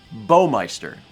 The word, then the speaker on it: Baumeister: says 13 months also my name is pronounced bow like in bowtie bowmeister i'm going to do